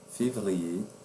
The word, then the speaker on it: février: Como regra, não pronunciaremos este último R quando a palavra terminar em ER, como janvier, février, premier, dernier.